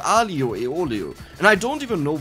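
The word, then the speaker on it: aglio e olio: italian restaurant and they said it's called spaghetti aglio e oglio which is completely wrong it's called alio aeolio and i don't even know why they said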